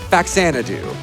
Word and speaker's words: Faxanadu: The best NES games are Crystallis and I say it like this, Faxanadu.